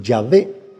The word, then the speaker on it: Yahvé: En el hebreo son cuatro consonantes, pero el no poderse pronunciar eh se le añaden las palabras de Adonay, mi Señor, para que se pronuncie Yahvé.